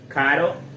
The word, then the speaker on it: caro: So just remember, with just one letter, caro means expensive. The second one, carro, means car.